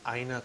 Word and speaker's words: Aina: Yeah, so the name of our business is Aina Culture. Have it right here on the hat. Oh, Aina excellent. Culture. Aina.